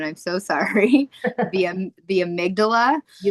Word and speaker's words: amygdala: Um, first, let's talk about what's actually happening happening neurologically your I always mispronounce this word and I'm so sorry. The the amygdala.